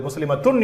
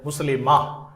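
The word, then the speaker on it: مسلمة: எனவே இந்த வார்த்தைகளை உச்சரிக்கின்ற பொழுது முஸ்லிமத்துன் என்று சொல்ல மாட்டோம், முஸ்லிமா. முஃமினத்துன் அல்ல, முஃமினா, சாலிஹா என்பதை போல.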